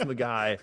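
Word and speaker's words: Magee: magy I love him it looks like McGee but yeah pronounced M guy he's now he's now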